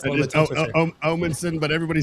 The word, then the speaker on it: Omanson: Omanson, but everybody says Omanson, so it's totally fine. Right? Omanson. Yeah, there it is. I gotta really pronunciate that O.